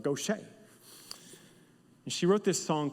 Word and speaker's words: Gauthier: Her name is Mary Gauthier, and it's spelled Gouthier, but she's Southern. Gauthier.